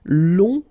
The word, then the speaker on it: long: then uh okay so long remember you don't pronounce the final J will become long okay so phonetically it's long g so long masculine